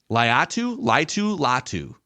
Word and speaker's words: Latu: Edge rusher, I believe it's pronounced Laitu. Is it Wow. Latu is his name. Latu, yeah.